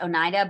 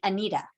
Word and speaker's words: Oneida: these are this this word oneida um is pronounced oneida but we had an attendance clerk for the last five years who spelled her name like this but because she was of german ancestry pronounced it anita so if you went to the attendance office